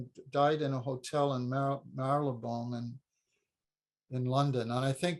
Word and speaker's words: Marylebone: How's it pronounced? Marylebone? Marylebone.